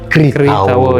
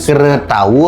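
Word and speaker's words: Kṛta: Jadi KRR titik di bawah. Dibaca ri. Jadi kalau belajar bahasa Sanskerta biasanya gitu. Jadi itu masuk ke dia ke aksara suara. Jadi dia dibacanya Kritawo, bukan Kretawo atau Kratawo.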